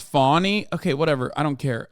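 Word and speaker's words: Fani: One is it's pronounced Fawny.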